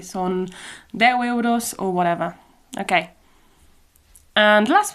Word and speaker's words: euros: So, in all Catalan-speaking regions, they use euros, I'm pretty sure. And it's the same word, but just pronounced a bit different. So it's euros. Euros. Euros. It's more like an open e.